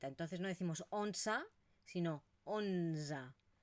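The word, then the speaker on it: onze: que por lo tanto no la pronunciamos como una e sino que es esta mezcla entre una e y una a onza doza 1za cza 15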